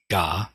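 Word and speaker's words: 我: is the character and this is the Japanese pronunciation Joe Bliss Raku true self G and and we'll get back to this he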